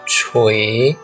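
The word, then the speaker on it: 锤: Jadi ini adalah jin zipang berhubungan dengan logam, dan ini adalah cara bacanya adalah cui nada 1. Dan setelah ditotal ternyata adalah cui nada 2.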